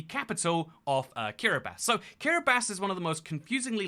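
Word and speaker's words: Kiribati: is kiribasi over there don't ignore the tea being pronounced as an S I'm just doing it to appease the comment people but um yeah that's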